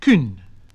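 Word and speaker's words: cynn: And also the vowels represented by the letter Y, which were like the U of modern French. So kun, kin, huran, to hear.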